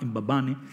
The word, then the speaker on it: Mbabane: Además, él pronunciaba Mbabane, abriendo sí, sí. La A de entonces Mbabane.